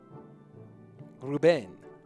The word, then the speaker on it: Rubén: R-Trail, second syllable, stressed. Even I can't pronounce names. Rubén.